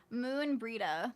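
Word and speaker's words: Moenbryda: Uh, I believe hang on gave me the pronunciation. Where is it? Moon Breida. Moon Breida, forget. I believe Moon Breeda has requested a gathering of the scions.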